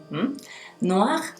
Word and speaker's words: noir: Noir, negro, noir. OI forma wa. Noir, noir. Y el gargarismo del final es superfluo. Noir, noir, noir, noir.